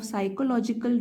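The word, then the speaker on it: psychological: बच्चों में ठीक है मनोवैज्ञानिक पी साइलेंट है यहां पे जैसे कि अवसाद सैड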